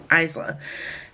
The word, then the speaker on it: Isla: She's called Isla, and I thought it was Isla, but the narrator pronounces it Isla.